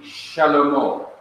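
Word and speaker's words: שְׁלֹמֹה: You have Shin, which is an SH sound, and underneath the Shin you have the Shewa. Now notice that Shewa is at the beginning. It begins a syllable. Here's a syllable, Shin. And when it begins a syllable, at the beginning of a word or the middle of a word, it is to be pronounced.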